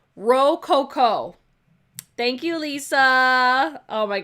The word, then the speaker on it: Rococo: Okay, it's pronounced Rococo.